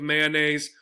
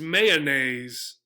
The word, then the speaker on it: mayonnaise: possibly in Ohio, is mayonnaise, right? So they give another syllable here for the O. It might sound like possibly actually like oh, so mayonnaise, probably mayonnaise if they're having this third syllable, right?